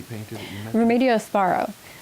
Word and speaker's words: Varo: Remedios Varo. Varo. How do you spell it?